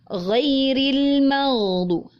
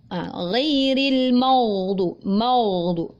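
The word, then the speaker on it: غير المغضوب: Ghairil maghdu. Nah, itu adalah contoh yang keliru. Mimnya menjadi tebal. Yang betul adalah ghairil maghdu. Nah, ini masih tebal karena huruf dhad. Ghairil maghdubi.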